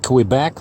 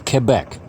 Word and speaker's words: Quebec: them over here so it's not cool back like I used to say it's Quebec and so Quebec City